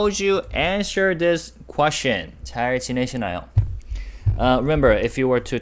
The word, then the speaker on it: 잘 지내시나요: And of course, the very last syllable is yo. That's the ending we put to make a sentence formal and more polite, right? 잘 지내시나요?